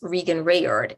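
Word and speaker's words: Reagan Revord: Grenade Bouquets, and Vanish Me, currently with actress Regan Rayard. Is that how you pronounce her name?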